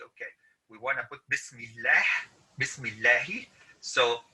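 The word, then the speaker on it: بسم الله: and the reason is this is pronounced as bismillah is because it has a kasra okay but if you're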